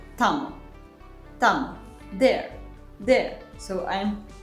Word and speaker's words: tamo: So T in the cat is pronounced like this T.